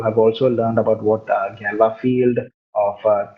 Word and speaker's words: Galois: Now, Galois field, okay, Galois എന്ന് എഴുതുമെങ്കിലും GALOIS എന്ന് എഴുതുമെങ്കിലും this has to be pronounced as Galois because it's the French mathematician's name, right?